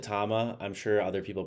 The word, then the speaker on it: Tama: And I pronounce it tama.